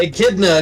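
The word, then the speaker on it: Echidna: Akidna. It's the same as the animal.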